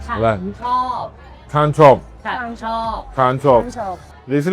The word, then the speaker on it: ฉันชอบ: How you say I like ฉันชอบ Chan chop.